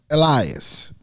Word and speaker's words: Elias: And it's so, his name is pronounced Elias.